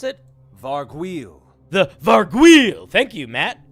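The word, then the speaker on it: Vargouille: How do we pronounce it? Vargweel.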